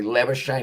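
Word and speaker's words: Labuschagne: viewers so pretty much the original pronunciation of mana slimmer shane's last name is lava which is pretty much the south african afrikan way of saying it but uh it's actually lava shane icho's or his family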